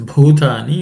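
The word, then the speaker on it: भूतानि: The next word is bhutani, in that bhu is aspirated.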